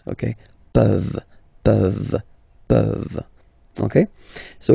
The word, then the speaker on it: peuvent: Je peux, tu peux, il peut, elle peut, nous pouvons, vous pouvez, ils peuvent, elles peuvent. Okay, as usual, this ending, this ENT ending, you write it, you don't pronounce it. Okay, peuvent, peuvent, peuvent.